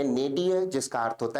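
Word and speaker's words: nadir: विद्यार्थी शब्द के प्रोनंसिएशन या उच्चारण पर विशेष ध्यान दें। उच्चारण है नेडियर जिसका अर्थ होता है निम्नतम बिंदु।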